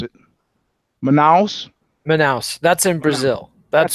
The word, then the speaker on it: Manaus: How do you pronounce it? Manaus.